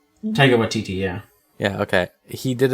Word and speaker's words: Taika Waititi: Taika Waititi, yeah.